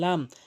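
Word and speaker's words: ل: এরপরে হচ্ছে এরপর হচ্ছে লাম। লামটি উপরে তালুর সঙ্গে লাগিয়ে উচ্চারণ করতে হবে।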